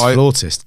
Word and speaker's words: flautist: So It's flautist. God damn it. Okay, keep that in. Don't edit that out. It's Do not edit that out. Shut down. Yeah, it's flautist, but it's spelled Flautist.